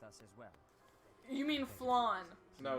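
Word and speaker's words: Flayn: You mean Flan. No, it's fine. Consider It whether looks this like is it should be an pronounced unnecessary flan. risk. There's a Y there. Yeah, I know, the Y is silent.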